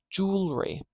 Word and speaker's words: jewelry: this jewelry jewelry jewelry and then suddenly we have three syllables here because we have three vowel sounds here I've only got two